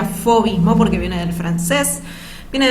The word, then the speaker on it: fauvismo: fomín mont se escribe found mismo pero se pronuncia fauvismo porque viene del francés viene del francés paul